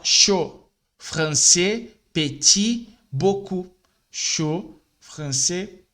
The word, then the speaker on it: chaud: Outro erro do brasileiro é ler as consoantes finais sem uma vogal. Por exemplo, aqui, ó. Aqui se escreve assim, né? Com a letra D no final. Mas a gente fala chaud.